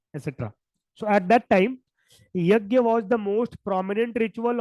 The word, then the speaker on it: yajna: In Sanskrit, this is wrought as yajna, or also they pronounce yagna or yajna. Generally people pronounce it as yajna.